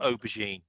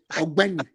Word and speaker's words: Ogbeni: Look, let's condition our mind that our season really Benny, not aubergine. Sorry. I called him aubergine. Ogbeni. That's how to pronounce it.